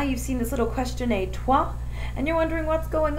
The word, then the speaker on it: et toi: I would say, je m'appelle Madame Bitz, and add et toi, where it says E-T-T-O-I. That little tiny question is pronounced et toi.